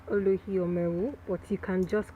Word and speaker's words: Olohiomeu: Um it's pronounced Oluhio Meru, or you can just call me.